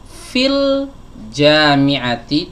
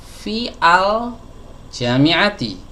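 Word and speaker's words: في الجامعة: Fil jami'ati, tidak fi al jami'ati.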